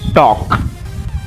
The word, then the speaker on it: talk: L यहाँ पर silent हो जाता है, इसीलिए इसको पढ़ेंगे हम टॉक।